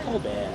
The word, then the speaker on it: Colbert: Colob. It's Coar. Coar. I'm gonna say he's pronouncing his name wrong. Sorry. It's like me saying my name's Jeh.